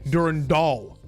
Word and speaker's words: Durandal: Jake Wright's been going at the law and they say Durand Doll.